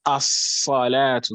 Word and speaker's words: الصلاة: It's rather going to be inserted into the letter that follows it, which is the moon letter. And that moon letter is now going to be pronounced with an emphasis, with a shadda.